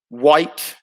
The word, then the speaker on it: white: White. Yep, silent H in white. That's a good one, Bunny.